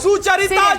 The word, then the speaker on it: सुचरिता: भी डांटे जा रहे हो, नाम सही लो, सुचरिता जी ऐसा नाम लो, वही तो कुछ भी बोलने जा रहे हो, उच्चारण सही कहना चाह रही हूँ कि ये